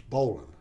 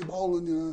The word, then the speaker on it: Bolin: of Bolin b-o-l-i-n and the Americans pronounced Ballin as bowling and I would get